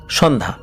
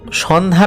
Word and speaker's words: সন্ধ্যা: তো ওনার নাম তো ছিল সন্ধ্যা। লোকালি যারা বিভিন্ন নামের সাথে পরিচিত আছেন, আপনারা জানেন যে গ্রামে কিন্তু নামটা ওনাদের মতো করে উচ্চারণ করেন। তো সন্ধ্যা নামটা এভাবে বলতো না, সন্ধে বলে ডাকতো, যে এই সন্ধে কই